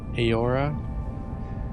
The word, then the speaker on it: Eora: Eo sounds like Ayo. Sounds like the model word Eora.